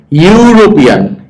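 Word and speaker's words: European: আবার দেখো ইউরোপিয়ান, ইউ এর ইউরোপিয়ান, এটার উচ্চারণ কি ইউ, ইউ সাউন্ড হলো কনসোনেন্ট সাউন্ড, এটা মনে রাখবা, ব্যতিক্রম।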